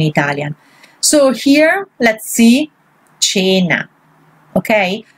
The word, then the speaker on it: cena: So here, let's see, cena, okay? Why you say cena? Because here, the A, here it is a soft vowel.